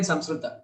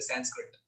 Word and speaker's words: Samskrita: We say Sanskrit. Even I used to do it. I studied Samskrita for 7 years and I used to still pronounce it as Sanskrit. And just for pronouncing it as Sanskrit, my Sanskrit teacher cut my mark, saying this is not the way.